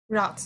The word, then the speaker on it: route: By the way, ROUTE, how would you pronounce that? Chair, route. Route, of course. No road, right? We have to pronounce route.